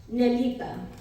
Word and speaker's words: Nelita: is a Portuguese Sur name that is correctly pronounced nelita uh but they saw it written down and